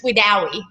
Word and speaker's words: Wedowee: That's what everyone calls it, Wedowee, but it's Wedowee. Wedowee. Okay, so I put the emphasis on the wrong syllable.